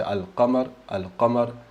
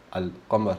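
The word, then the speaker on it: القمر: al-shams, invece, no scusate, al-shams non pronunci la lam, invece al-qamar pronunci la lam, al-qamar, invece al-shams salti il lam, al-shams, brutto, al-shams, salti e vai subito sul shin.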